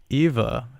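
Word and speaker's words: Ewa: there in the matrix eva i am so glad that i re i just instantly thought that that w is pronounced like a v so i'm glad that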